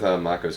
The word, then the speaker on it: Mako: something to do with mako's character um is it moo or Mak they pronounce it Mako so um and of